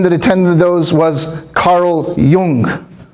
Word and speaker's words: Carl Jung: Another big name that attended those was Carl Jung. Some people mispronounce it as Carl Jung but it's German.